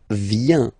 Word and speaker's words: vient: Okay, then il, elle, vient. Final T, not pronounced. Il, elle, vient.